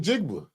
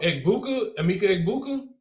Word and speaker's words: Emeka Egbuka: Oh, they got him Jigba. Oh, did I say his name? Oh, you talking about Emeka Egbuka?